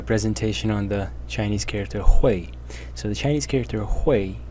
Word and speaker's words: 会: for this character, and it has three possible readings or pronunciations. The first one is the one that I just pronounced, Hui. Then there is Hui, and then there is Kwai in the fourth tone.